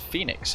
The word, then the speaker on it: Fenix: throw across hdf says did you know it's pronounced Phoenix hence the logo yeah the logo is